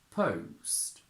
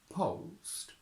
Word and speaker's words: post: it's easier to pronounce the difference between British and American in the diphthong is that in British we start with the sound whereas in American they have British post post American post post as I said earlier